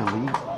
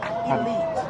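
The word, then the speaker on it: Eliyt: He plays in, I always say his name wrong. Oh, it's Elite? Elite.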